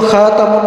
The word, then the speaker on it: খাতাম: একটা হল খাতাম। তার মধ্যে জবর দিয়ে খাতামুন নাবিন।